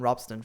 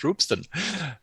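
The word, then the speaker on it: Ropsten: just test that the whole stack works on Robston, for instance. Yeah, if I have to break a lance, by the way, for the shouting stone near Stockholm. We were told during the merge call it's pronounced Roopston, and it's the shouting stone where people were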